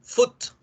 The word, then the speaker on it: foot: Entonces, por ejemplo, la palabra pie se escribe foot, se lee foot, mientras que la palabra